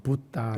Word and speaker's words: 붓다: 싼 쓰기 l 범위입니다 범 으로 정확하게 발음하면 붓다 라고 하겠는데 2부 따라하는 이 말을